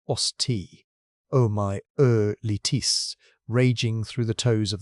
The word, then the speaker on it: osteomyelitis: Worst of all, an infection called osteomyelitis, pronounced osteomyelitis, raging through the toes of the right foot.